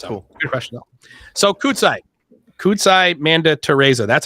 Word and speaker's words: Kudzai Manditereza: in the Quorum yes it's cool so kudzai kudzai Manda Teresa that's how you pronounce it right yes that's correct why don't